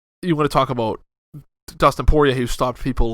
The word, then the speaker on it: Dustin Poirier: Dustin Poirier.